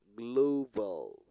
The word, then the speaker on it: global: on the second syllable global global on the first sea level so for you to